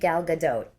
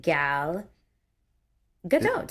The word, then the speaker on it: Gal Gadot: How do you pronounce gal gadote? Here we go. Okay. Gal gadote. The t right. Gal pronounced like gut. Gal. Gal. Gal. O sound is short like in dot and the t is pronounced.